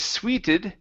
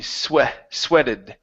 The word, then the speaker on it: sweated: Okay, this word here instead of sweeted, okay, this is short E, sweated.